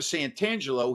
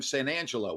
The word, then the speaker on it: Santangelo: on mispronouncing your name instead of santangelo he was calling him san angelo without the t so time went by